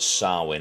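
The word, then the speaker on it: Samhain: nutshell and now let's jump into the origins sarwin is the origin 2 000 years ago it's actually it's it's spelled Sam Hayne but it's Celtic and it is pronounced sarwin it's an ancient Celtic Festival now in modern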